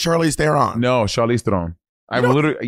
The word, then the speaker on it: Theron: She's like, it's actually pronounced Charlize Theron. But everyone says Theron.